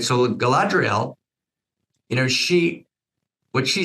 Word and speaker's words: Galadriel: Okay, Galadriel. Okay, good. Right. So Galadriel, what she says to Frodo is she talks to him about being free, about his choice.